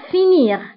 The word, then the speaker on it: finis: Enfin, nous avons le verbe finir. Le verbe finir, ma la deuxième personne du singulier qui arrive fini. Fini. يعني la terminaison فيها is. وديك s ما كنطقوهاش كنقولوا fini.